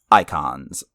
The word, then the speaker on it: Eikons: are called icons, but if you look at the way that's spelled, it's dumb as hell. Yeah, EIKONS. Icons.